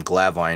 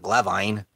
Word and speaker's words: Glavine: Used to pronounce his last name Glavin, and it drove me wild. Dude, he's Glavin, not Glavine.